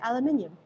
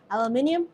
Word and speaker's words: aluminium: aluminium in it Alum Americans say alumin aluminum we non-americans say aluminium let me know how you say it aluminium aluminum let me know